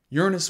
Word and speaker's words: Uranus: the ice giants of uranus and neptune and yes that is how you pronounce that planet in the early 1990s